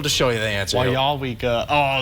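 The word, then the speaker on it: Weyauwega: How would you pronounce this town? Weyawaga. Oh, that is not even in the... Not even close. Well, I'll give you... We'll just show you the answer. Wyawega.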